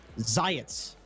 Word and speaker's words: Zayats: can you tell me am i pronouncing it correctly zayats yeah yeah it's got it that's right okay uh second question i